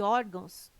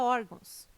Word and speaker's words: órgãos: correto caráter intransferível e órgãos tem sua sílaba tônica na penúltima sílaba são paroxítonas observação Poderia gerar dúvida a palavra órgãos mas ela não termina